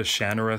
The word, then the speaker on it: Shannara: because I love the Shannara series. I say Shannara because, well, that is how he pronounces it. If you've seen the TV series, they say Shannara. I've just gotten used to saying Shannara.